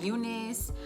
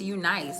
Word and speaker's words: UNice: from you nice hair I know people pronounce it like Goonies but I think it's you nice like because it makes the most sense because it's a you with a diet and in a capital nice afterwards I feel like it